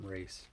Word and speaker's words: Reese: I am Reese. My name is Reese. And it happens to rhyme with peace, so I say peace, I'm Reese sometimes.